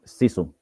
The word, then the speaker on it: Sisu: Yes, Sisu. Sisu. It's pronounced Sisu.